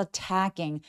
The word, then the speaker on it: attacking: A wolf is attacking. Atting 할 때 강세가 이음절이 오니까 첫 번째에서는 힘을 쫙 빼주셔서 a wolf is attacking the sheep 얘기합니다.